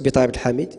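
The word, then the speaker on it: Bitari Abdelhamid: Et le Facebook, c'est Betaï Abdel Hamid, comme ça se prononce, Betaï Abdel Hamid.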